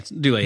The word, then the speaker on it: Dulé: Yeah, Dulé Hill. Dulé Hill. The guy from uh Psych. Yeah. And from the West Wing. West Wing. Yeah, he's he's really good. Dude, Dulé Hill's great.